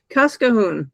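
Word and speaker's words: Cascahuín: It's uh Kasa. Kasahoon, I think, is how c a s c a hu n.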